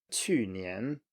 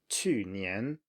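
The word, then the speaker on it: 去年: falling and then rising. So 面条, noodles, 面条, or 去年, last year, 去年, 去年, and then 问题, 问题, problem or question.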